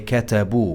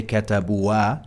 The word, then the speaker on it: كتبوا: And the alif here is there for some historical linguistic reason. It's not pronounced, but we have to have it in MSA. We say katabu. We don't say katabua. No, katabu.